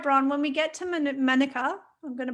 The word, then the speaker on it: Manuka: All right, Bron, when we get to Manuka, I'm going to pronounce it correctly, Manuka, I'm going to give you a test.